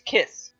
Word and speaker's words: cis: which means it's not CIS it's kiss so it's actually kiss gender and that makes me